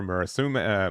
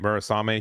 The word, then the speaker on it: Murasame: link with the four Murasum Mura, I'm going to say it right, Murasame here.